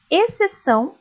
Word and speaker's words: exceção: Leiam comigo: exceto, exceção, excelente. Perceberam que essas palavras, o C é pronunciado, o X acaba ficando sem ser pronunciado. Como tem o C ali, apenas aparece o som dele mesmo, ok?